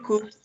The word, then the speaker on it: could: The L doesn't sound. So you could, Santiago could, he could, okay?